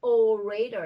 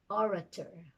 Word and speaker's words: orator: beginning of a word you don't say oh raider it's orator oration the soi sound so